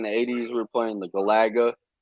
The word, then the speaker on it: Galaga: even pronounce terry right atari how do you pronounce it azari atari atari galaga galaga it's galaga you you don't [ __